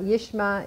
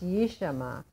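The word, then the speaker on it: ישמע: a knee fault okay it's not you Sh'ma it's you Shama okay listen for that extra syllable will be heard ode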